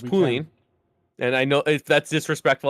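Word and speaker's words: Poulin: uh her last names I say poolean but it's French so it's pulin but I'm not gonna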